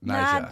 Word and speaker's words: Naija: Nad- The ER is like for them, like Naija. Naja. Exactly. Naija. Naija. Exactly. She's on Yeah. what we do in the shadows. That's a Naija.